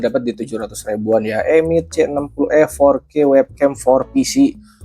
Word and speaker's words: EMEET: Harusnya pronounce Emit ya, bukan Emet ya.